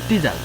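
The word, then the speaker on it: teaser: এখন ট্রিজার আমরা উচ্চারণ করবো টিজার, ট্রিজার না, টিজার।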